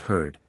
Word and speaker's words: heard: I perceive that he pronounced the word heard as if spelled with a double e heared instead of sounding it heard as is most usually done he said his reason